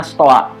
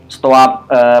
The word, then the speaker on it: stoa: Teras itu di bahasa Yunani disebutnya stoa ya. Stoa sebetulnya nulisnya itu stoi ya, kalau di ejaan yang sekarang tuh stoi, tapi memang dibahasakannya stoa. Kalau di bahasa Perancis, oi itu jadi oa ya.